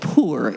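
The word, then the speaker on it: pu-erh: One of the variants of black tea is called poor. It's spelled P U R H.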